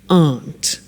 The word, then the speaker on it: aren't: they aren't cheap so the difficulty here is the pronunciation of our not which is Aunt okay art good so